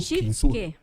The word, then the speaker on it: Shitsuke: Alice, por favor, a pronúncia em japonês. Do quinto S. Do Shitsuke.